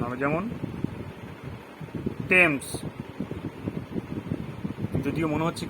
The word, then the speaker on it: Thomas: থমাস আমরা বলি, বাট আসলে টমাস, THOMAS, টমাস। আমরা কি থ বলছি? বলি তো, কিন্তু ওটা কারেক্ট নয়, টমাস।